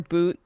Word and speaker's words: Bout: was imprisoned um Victor boot is his name it's spelled like bow but it's pronounced like boot um arms dealer not